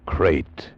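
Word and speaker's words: krait: What kind of a guy Harry Pope was, and what kind of a snake a crate is. First, the crate. You spell it K R A I T.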